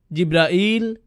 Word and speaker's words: জিব্রাইল: করেন তার নাম জিবরীল জিব্রাইল জিব্রাইল জিব্রাইল জিবরীল এই পাঁচ ভাবে তার নাম উচ্চারণ করা হয় আর এটা বিভিন্ন কেরাতের